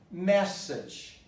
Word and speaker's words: message: Message. What happens to the A? Becomes a schwa.